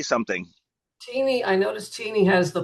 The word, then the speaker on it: Teeny: Is it teeny or tiny? Let's get it straight. Teeny. It's teeny.